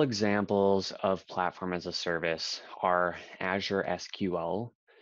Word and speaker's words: SQL: of platform-as-a-service are azure SQL pronounced sequel database salesforce Heroku AWS